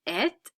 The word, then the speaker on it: êtes: Vous êtes, not pronouncing the E or S.